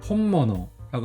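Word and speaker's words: 本物: 그래서 뒤에 한자는 모너라고 읽어요. 그래서 앞에 혼이 붙어 가지고 혼모너라고 하면 진짜를 말하는 거예요.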